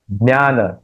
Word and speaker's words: ज्ञान: है उसका जिस जुक्ताक्षर जो यहां है ज और ञ उसका उच्चारण होना चाहिए तब तब ये उसका उच्चारण सही होगा।